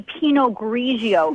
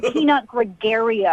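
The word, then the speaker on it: Pinot Grigio: You don't even know how to say penog grigio. It's not peanut gregario.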